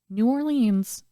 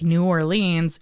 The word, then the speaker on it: New Orleans: listening and we're like New Orleans it's New Orleans we don't pronounce all of the letters my apologies Mark no